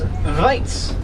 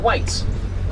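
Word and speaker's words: wyd: But the name, the white rhino, actually comes from a mispronounced Old Afrikaans word known as weitz. Not white. Weitz translates to wide.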